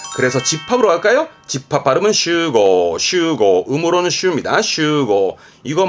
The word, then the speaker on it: 集合: 모일 집자 그죠 그래서 집합으로 갈까요 집합 바르면 슈고 슈고 음모는 쇼입니다 슈고 이거 말고 동사는 아스메